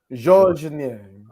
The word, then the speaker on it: Georges Niang: I listened to the French pronunciation. It's Georges Niang.